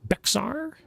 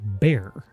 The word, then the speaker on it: Bexar: you think it's like Bexar no it's just called bear I know it's weird